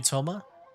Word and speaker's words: Thoma: This is Toma, a trade partner Or that I've Toma, gotten they to know don't recently.